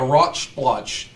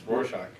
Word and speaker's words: Rorschach: the Rotch Splotch segment, and I know that's not how you pronounce it. Okay. Do you know how to pronounce it? It's Rorschach. Rorschach.